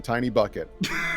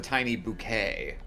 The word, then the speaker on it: Tiny Bucket: it's just called the Tiny Bucket. Alright, But- Tiny Bucket. It could have grown up it's- from. No, you see, it's know. meant to be pronounced the tiny bouquet.